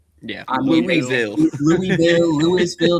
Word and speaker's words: Louisville: Louisville. No, it's pronounced Louisville. You come to the city, you say it correctly.